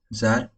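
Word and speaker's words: Saar: सार एक नदी का नाम है। जार प्रोनाउंसिएशन होता है जार।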